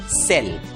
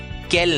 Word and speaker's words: cell: बराबर नियम है, C के सामने जब भी I या E आता है, तब बहुतांश शब्दों में C की आवाज क न रहकर स बन जाती है और इसलिए इस शब्द का उच्चारण होगा सेल, केल नहीं, सेल।